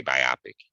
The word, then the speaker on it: biopic: for me to say biopic yeah it's it's uh something well i don't know because it rhymes with myopic maybe but i mean